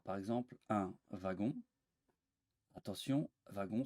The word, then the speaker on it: wagon: exemple un wagon attention wagon se prononce avec un v comme wagon mais week-end attention